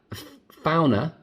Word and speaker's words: Fauna: pair them hang on did you hear that founder that's what she said that's clearly how you pronounce it is pairing so i